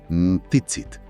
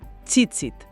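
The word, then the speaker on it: tzitzit: La pronunciación precisa es chitsit. A ver, dímelo otra vez. Cheitsit tiene un sonido africado inicial, una t y una s, como si pronunciaras las dos letras de forma simultánea, casi explosiva.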